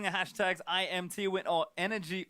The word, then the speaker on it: NRG: hashtag IMT wi or energy n Win it's pronounced energy apparently but n is the spelling of the team don't worry too much